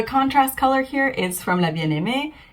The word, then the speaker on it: La Bien-Aimée: of French names, and I hear a lot of people struggle with La Bien-Aimée. So if you're watching this and you're wondering, it is La Bien-Aimée. The contrast color here is from La Bien-Aimée.